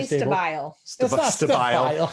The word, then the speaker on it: Stabile: kron and suzanne um i'm going to say your last name wrong stay but stable oh definitely stabile oh my gosh uh